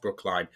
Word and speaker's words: Brookline: It's actually spelt Brookline. And if you're from that area, it might be pronounced Brookline. But Brookline was a small town that had never, ever, ever had a murder until 1981.